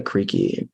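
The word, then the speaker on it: Krejci: speakers was somebody named Martha creaky I think that's pronounced it's like k-r-e-j-c-i I think um you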